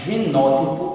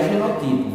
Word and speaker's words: genótipo: Então, toda vez que a gente falar de genótipo, não é genotipo, viu? Genótipo, olha a sílaba tônica aí, nó.